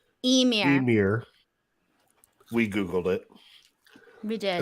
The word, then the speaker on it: Ymir: The proper pronunciation. Emir.